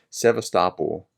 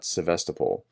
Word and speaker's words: Sevastopol: by the way uh I said that wrong as I understand it's sevastopol uh not sevestable and I'm using Anna sevastopol I'm using Anna from Ukraine's pronunciation I figure that's probably